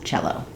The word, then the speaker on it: cello: Thanks for watching, and I hope this helped you understand why we pronounce cello as cello.